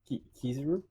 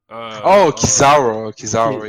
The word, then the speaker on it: Kizaru: He plays Kazuru, Kizuru, the light guy, Admiral, the Admiral who has the light powers. Oh. Kizaru, yeah.